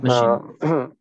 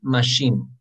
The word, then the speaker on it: machine: Ok, la pronunciación es ticket machine. No quiero escuchar cuando esté oyendo los audios que me digan ticket machine o yo no sé. Pero no es machine, es machine. La E no se pronuncia.